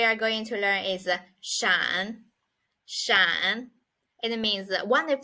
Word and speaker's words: 闪: next word we are going to learn is Shan it means that one if the meaning is